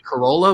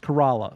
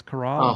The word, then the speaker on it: Corolla: We going to Corolla? We going to Duck? Where are we going in the Outer Banks? Duck. And it's actually pronounced Corolla.